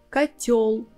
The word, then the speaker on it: котёл: Our tip here is when you have a word where you have together ё and о, you can be sure 100% that о will sound like а. Козёл, котел, орел. In these words, о will be always а.